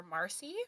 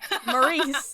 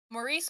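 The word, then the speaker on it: Maryse: you're just following around with the main character Marcy I believe that's how you say her name mace oh Maurice all right Maurice is how you say it Maurice bordo and her fellow resistance spiders um it's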